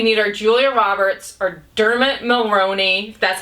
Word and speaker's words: Dermot: characters okay we need our Julia Roberts or Dermot that's how you say his name and Cameron